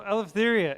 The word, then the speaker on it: Eleftheria: So, Eleftheria, am I pronouncing your name correctly? Yeah, you do.